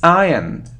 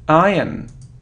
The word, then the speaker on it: iron: isn't iron no it's iron iron iron so we don't hear r r no ion it